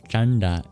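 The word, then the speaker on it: caṇḍa: Finally, the dots under the N and the D in Chanda indicate that they're not regular as you might understand them in English. You curl your tongue back to produce these sounds.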